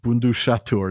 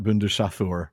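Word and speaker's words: Bundushathûr: uh bundaturur bundhatur not bundaturur yeah so we're reminded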